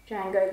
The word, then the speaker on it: Django: way you dare boy django the d is silent so these ones have